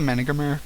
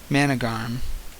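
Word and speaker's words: Managarmr: Managarm. Managarm. Why does it have a second R in there? That Managarm. If it's just pronounced Managarm, why?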